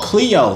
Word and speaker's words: Cleo: Oh, Cleo. That rhymes with my name.